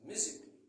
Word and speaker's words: musically: Par exemple, musically. C'est musically, mais ça se prononce musically.